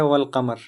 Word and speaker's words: والقمر: تو آتے ہیں، یعنی الف لام تو آتے ہیں لیکن لام کا تلفظ یہاں پر ہوتا ہے۔ الف لام آتے بھی اور لام کا تلفظ ہوتا بھی ہے۔ جیسے دیکھو یہاں پر ہے والقمر، یہاں پر والقمر کیا ہے؟